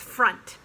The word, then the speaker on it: front: in of in back it looks like front don't do the nasal sound front uh it's front and that reminds me